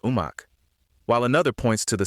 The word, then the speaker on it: Omak: One interpretation ties it to the Okanagan place name pronounced Omak, while another points to the Salishan term Omache, often glossed as good medicine or plenty.